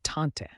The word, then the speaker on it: tante: Aunt in French is tante said as taunt ants often Provide support